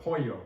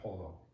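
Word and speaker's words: pollo: when you've heard of the ll sounds like the Y doesn't sound like how it sounds like Y like in the word poyo which means chicken you've probably heard that you know it's poyo would not pull though you've probably seen that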